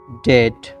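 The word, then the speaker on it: debt: কনসোনেন্টের পর বিটি এর উচ্চারণ ট, এক্ষেত্রে বি অনুচ্চারিত থাকে। বুঝতে পারলেন? উদাহরণ দেখলে আপনি বুঝতে পারবেন আরও। উদাহরণটি হচ্ছে ডাউট সন্দেহ, ডাউট সন্দেহ। পরেরটি হচ্ছে ডেট ঋণ, ডেট ঋণ। বি কিন্তু অনুচ্চারিত থাকছে।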